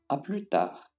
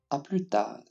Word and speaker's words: à plus tard: Notice that we do not pronounce the D at the end of the word. It's like the rule of the N. We would have pronounced it if we had an E after the D.